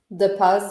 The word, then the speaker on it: Depaz: So this is how do you pronounce it, Nia? DePaz? DePaz, yeah.